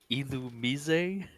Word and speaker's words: Illumise: Illumise. That sounds wrong, but We got Volbeat and Illumise. because it's like illuminate. I guess. But French. Illumise. Illuminate, but French.